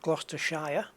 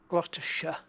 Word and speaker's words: Gloucestershire: here in gloucestershire um as we say not gloucestershire glottisher all the shires are pronounced sure here so you've got uh